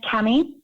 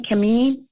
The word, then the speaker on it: Cami: My name is Cami. Cami, how would you spell it? Sorry, it's actually a French name, Camille, but without the l l e. So, it's just Cami, c a m i.